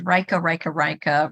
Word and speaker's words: Rajka: And I always tell people my name is Rajka, rhymes with Micah.